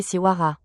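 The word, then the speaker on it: Siwarha: Mais les découvertes de 2025 et 2026 révèlent l'existence d'un compagnon stellaire nommé Siwara prononcé Siwara d'environ 1,5 masses solaires orbitant autour de Bethelgus en 5,7 à 6 années.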